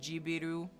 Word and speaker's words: Ghibli: Yes, Studio Ghibli is pronounced with a J, because in Japanese, what is Jibiru?